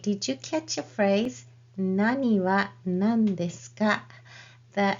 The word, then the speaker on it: 何: So the same question word, what, when it is pronounced as nan, it is used immediately before des, like nan desu ka, or immediately before counters.